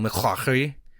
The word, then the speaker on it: McClaughry: McClaughry, it's spelled McClaughy, so McClaughry, a federal officer assigned to